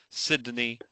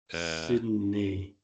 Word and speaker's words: Sydney: Sydney is pretty easy to render in Polish. Sydney, Sydney. It's almost like a N Kreskovana, N-I, Sydney. That's it, yeah. Right. Sydney.